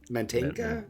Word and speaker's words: Mantegna: Mantegna?